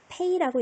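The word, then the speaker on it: 飞: EI, A. 어떻게 읽어야 될까요? 페이라고 읽을 텐데, 자, 성조가 일성이니까 소리 내볼게요. 페이, 페이, 윗니와 아랫입술이 붙여서 부딪혀서 내는 소리죠.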